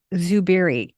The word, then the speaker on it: Zubiri: Zubiri. It starts with a Z, pronounced Zubiri.